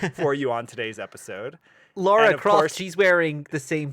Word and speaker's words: Lara: Yeah, although her name's not Laura. So let's start with that sin Laura, that you that's just committed. Laura. I was pronouncing it in like the British inflection, not Lara. Okay, well then you need to have a whole British accent in the whole sentence, or it just sounds like you're mispronouncing her name.